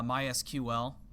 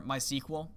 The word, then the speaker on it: MySQL: this is perhaps uh MySQL or MySQL if you pronounce it that way uh in that there